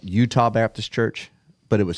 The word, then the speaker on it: Euto: And- Udo.